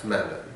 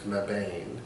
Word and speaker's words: Mebane: I had to say it right because in North Carolina it's Mebane. Everywhere else, if you saw it, you'd be like it's Mebane because there's an E at the end, so Okay, you're gonna pronounce Mebane.